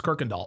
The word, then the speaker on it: Kirkendall: Oh, Brandon M says in Texas, that's how we pronounce it. It's Kirkendall.